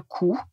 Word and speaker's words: coup: Le coup, on l'écrit c Ou P, mais on ne prononce pas le p.